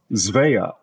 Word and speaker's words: Svea: found says the correct pronunciation the most common pronunciation is something close to zve zve however people who who have the name